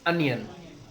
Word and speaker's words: onion: अनियन। It should not be pronounced as ओनियन, इट इज अनियन।